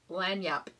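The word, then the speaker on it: lagniappe: spelled a l-a-g-n-i-a-p-p and it's pronounced lanyap and apparently lanyapp is a it's kind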